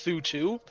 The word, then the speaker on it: Suitwo: it come up, and it's pronounced Su too, and it's freaking hilarious. Suitwo freaking out about it. What do you mean? No, it's not how you pronounce the name. It is Suitwo, Josh the Carrot.